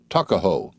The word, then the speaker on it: Tuckahoe: not belong to him eastern shore men usually pronounce the word took as tuck tuckahoe therefore is in maryland parlance takaho but whatever may have